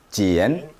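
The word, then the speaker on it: 茧: 이것은 어떻게 발음해? 시작. 지엔, 지엔, 지엔.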